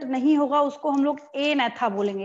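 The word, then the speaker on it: Agnatha: होगा उसको हम लोग ए नेथा बोलेंगे। यहाँ पे क्या होता है, जी साइलेंट होता है, सेकंड वाले में भी जी साइलेंट है और फर्स्ट वाले में भी जी साइलेंट है, ए नेथा, जी नहीं बोल रहे हम यहाँ पे।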